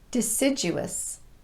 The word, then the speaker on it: deciduous: and arduous task but we did finish it deciduous deciduous deciduous trees lose their leaves in the